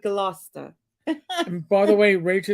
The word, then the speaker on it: Gloucester: you pronounced Peabody where Chester is Gloucester you'd see it as Gloucester but Gloucester and by the way